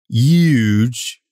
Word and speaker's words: Huge: Speaking of biblical, I stole a story for today's episode, which I'm entitling "Huge Convergence." Actually, I entitled it "Huge Convergence." Pronouncing the H, unlike a lot of people on TV do.